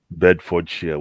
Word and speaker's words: Bedfordshire: Because one of my very good friends from uni back home left us in uni and went to Bedfordshire. How do you pronounce that university in Luton?